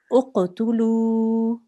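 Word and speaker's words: اقتلوا: So we will pronounce this, uqtulu. Uqtulu. Good. Uqtulu. Uqtulu. Good. Why are we pronouncing that last sound for 2 seconds? Because it has a waw mud.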